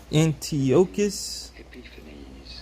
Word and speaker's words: Antiochus Epiphanes: to um antigonus it's a how do you pronounce his name antiochus epiphanes epiphanes so antiochus epiphanes antiochus epiphanes antiochus and